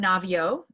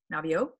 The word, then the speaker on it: Naviaux: Robert Navio, and he's at UCSD, and his last name is spelled Naviaux, Navio.